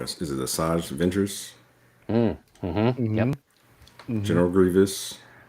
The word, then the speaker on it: Asajj Ventress: Is it Asajj Ventress, Mm-hmm.